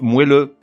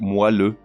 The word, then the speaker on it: moelleux: entend régulièrement mal prononcé moelle et son adjectif moelleux non on dit moelle la moelle épinière est donc on dit moelleux comme dans cette phrase